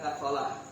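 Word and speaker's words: نقلة: Abdul ala Wat umyaiiqah naqah bacanya naqah seperti hamalah naq naq yang naq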